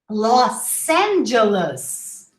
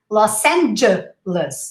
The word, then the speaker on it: Los Angeles: we would say right but not in english look los angeles try to say lost los angeles and don't forget the imaginary the los angeles los angeles or just say